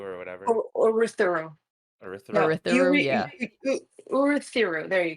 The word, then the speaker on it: Urithiru: So the Ghost Bloods again are popping up, and they're also looking for Ryu, or however you pronounce that. Urithiru or whatever. Or Urithiru. No, Urithiru.